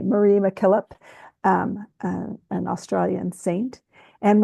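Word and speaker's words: Mary MacKillop: of Mary mck um I think it's pronounced Marie Marie McKillip um an Australian Saint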